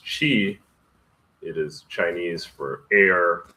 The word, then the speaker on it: qi: It's really a gamecher and it's actually pronounced chi.